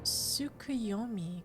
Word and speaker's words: Tsukuyomi: It's pronounced Tsukuyomi, correct?